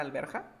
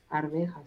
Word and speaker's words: arvejas: ¿Has escuchado la palabra alberja? No se dice alberja. ¿Cómo se dice? Arvejas. Arveja. Pero, por ejemplo, en partes como Perú, le dicen alberja.